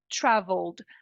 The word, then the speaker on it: traveled: transformar em um d na Prática a gente não vai pronunciar o e na hora de pronunciar Travel traveled do L você já